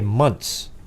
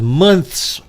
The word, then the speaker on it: months: way on this channel we say months m-u-n-t-s because there isn't a soul out there looking at me right now that says months with a th sound at the end and if you say you do you're a liar okay you're lying if you say you say months spitting all over everybody says months m-u-n-t-s thank you all right